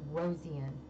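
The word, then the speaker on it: Rosean: I always say her last name wrong, but it's Rosian.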